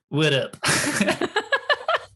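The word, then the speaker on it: WITT: like well that's a mouthful how do you pronounce that and i was like oh it's widow there you go it's kind of like what's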